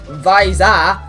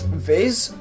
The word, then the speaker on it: Viz: things it's either VY Visa Visa Visa now intentionally I pronounce it like this I pronounce it as viz like fizz like the fizzy like a fizzy drink so viz uh so